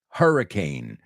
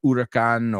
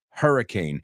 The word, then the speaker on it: hurricane: We now know how to pronounce it in English. The next one is Hurricane Jean. Hurricane.